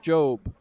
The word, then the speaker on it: Job: Actually, it's pronounced Job, I'm told. Job. Biblical. That it is. Yeah, it's spelt Job, but pronounced Job.